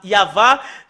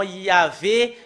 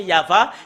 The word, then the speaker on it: Yahvah: Normalement, ça doit être Yava qu'on doit le prononcer. Bah, ça a changé en Yahvé, Jéhovah ou Yahou.